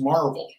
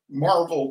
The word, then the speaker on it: Maryville: Spelled Maryville, but pronounced Marvel. Marvel, Tennessee.